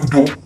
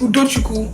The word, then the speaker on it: Uduku: I call you UD no no you can't call me Udo my name is uduku that's it if you can't pronounce it you will learn yes you will learn